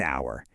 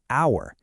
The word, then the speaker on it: hour: But, the H is silent. It actually begins with an O vowel sound, hour.